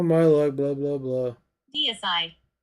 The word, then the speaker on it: Deicide: Deicide. Decide. Why am I saying Decide? It's not even.